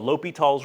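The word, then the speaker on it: L'Hôpital: It's called L'Hopital's rule. So sometimes it's pronounced, sometimes you see it looks like hospital or L'Hopital without the S.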